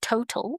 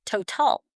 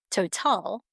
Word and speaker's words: Total: We are of French origin and we're not pronounced as Total. We are Total.